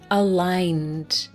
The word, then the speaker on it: aligned: Let's go to the word aligned. Notice the pronunciation, that silent G. Aligned.